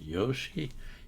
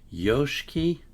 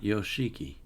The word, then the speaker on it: Yoshiki: So, his name is pronounced Yoshki. Yoshki. Uh, not Yoshiki.